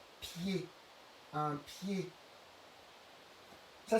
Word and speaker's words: pied: Et le mot le plus connu où on a le son et, c'est le mot pied.